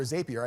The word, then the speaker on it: Zapier: done and if I use it tool like zappier or zapier I never pronounce it correctly it will all automate not